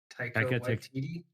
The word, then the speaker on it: Taika Waititi: Taika Taika Waititi?